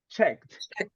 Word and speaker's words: checked: Checked. Pay attention to the final part, right? We say checked.